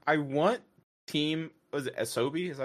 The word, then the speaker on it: Asobi: Was it Asobi? Is that how you say it? Asobo. No, Asobi.